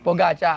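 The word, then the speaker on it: Pogačar: poach si pogi Oo the pronounce it pogaca kasi po gacha Oo Bukod sa kanya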